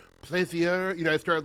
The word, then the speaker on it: Plaisier: It got Americanized from the French, so it's Plaisier. Okay, it's Plaisier. It's great because I was like, Plaisier.